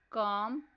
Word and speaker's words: calm: Words are half, calm, talk. Next silent letter is B.